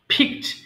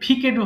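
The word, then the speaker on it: fixed: ফিক তোলা ফিক ফিকড ফিকড আবার এটা কিন্তু ফিকেডও হবে না ফিকড এবার আসি রিমার্ক মন্তব্য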